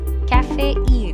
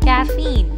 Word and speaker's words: caffeine: coffee that makes people more active people mistakenly pronounce it as cafe e they split it like cafe in in order